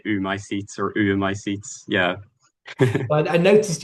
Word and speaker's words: oömycetes: Is that how we pronounce it? Is that the right? So I say oomycetes because it's the tree egg fungus, oomycete, which